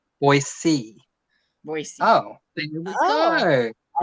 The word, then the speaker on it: Boise: Non-Idaho residents wrongly pronounce it Boise. Oh, but it's pronounced Boise.